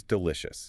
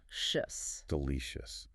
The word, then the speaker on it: delicious: It is spelled C-I-O-U-S, but we pronounce it with a soft sound. Shus. Delicious.